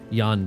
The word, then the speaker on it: Jan: together and Americanized uh Jan and case uh because that's how it's spelled that's how both those names are spelled uh apart from each other just yawn case but it's with the